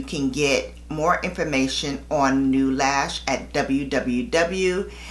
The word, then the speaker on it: Neulash: usa and you can get more information on new lash at www new lash dot com and new is spelled n e u lash l a s